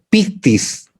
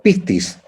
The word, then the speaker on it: pistis: lo recomiendo, El éxito griego-español, la palabra es pistis. Mire esto, se escribe así, P de perro, I de Ignacio, S de soldado, T de tarro, I de Ignacio, S de soldado.